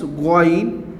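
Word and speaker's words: غين: Now this one is Goin. And I'm giving Z under the Goin, not Gain.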